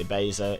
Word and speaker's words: Ebeza: you spell my name it's pronounced e basa if you actually care